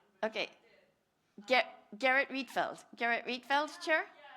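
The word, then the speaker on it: Gerrit Rietveld: Garrett Reedfeld.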